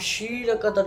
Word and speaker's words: ক্ষীর: থেকে শির তৈরি হয় যেটাকে আমরা ক্ষীর বলি কিন্তু এটার উচ্চারণ শির সংস্কৃত প্রথমে যে বঙ্গেত সময়